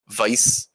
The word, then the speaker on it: Weiss: played the crystal games I'm gonna pronounce Vice wrong I believe it's technically Vice yes this Vice but what is the